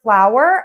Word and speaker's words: flower: These are pronounced the same, and it is with the hour. Hour. So we're saying ow and then were.